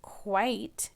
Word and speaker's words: quite: that had silent e we saw I silent e pattern in quite and we know to say long I when we see silent e so it changes this is quit with the if sound here comes magic e and it's quite so it changed this